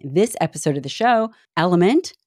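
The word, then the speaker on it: LMNT: forward thank you to element for sponsoring this episode of the show element spelled l m NT but pronounced element is an incredible electrolyte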